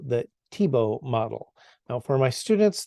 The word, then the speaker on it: Tiebout: pronounced his own name so I'm going to call him Tebow because that's how he said his name according to his close